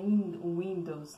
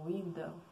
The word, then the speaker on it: Windle: Clair, eu espero que tenha pronunciado certo, e a outra é Vanessa Windle. É assim, Windle. Não é Windows, não, é Windle.